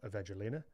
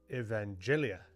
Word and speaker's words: Evangelia: No, not Evangelina. Evangelia.